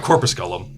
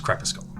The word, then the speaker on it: crepusculum: I knew what I meant by it, but I was like, no, it's not corpusculum. It's crepusculum. It's not pronounced exactly that way.